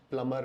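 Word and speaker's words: plumber: इसको हम बोलते हैं प्लम्बर एंड नॉट प्लम्बर। इसका विशेष ध्यान रखिए कि मैं आज प्लम्बर को बुलाऊंगा और घर में जो लीकेज है उसको ठीक करवाऊंगा, प्लम्बर।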